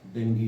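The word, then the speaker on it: dengue: Correct pronunciation इसका डेंगी है, डेंगी doctor pronunciation जो है।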